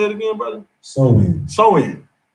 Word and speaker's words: Samhain: Samhain, right?